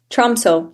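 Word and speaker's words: Tromsø: And it's am I right in the pronunciation is Trzmo that you move to? Trumso.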